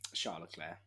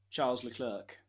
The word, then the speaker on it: Charles Leclerc: what about you um charlotte claire you're boring mate at least you pronounce his name properly charles leclerc yeah that's finger guard ukc clerk butchering surname since 2022.